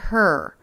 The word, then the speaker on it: her: away from that peak the word her she doesn't drop the h although that is a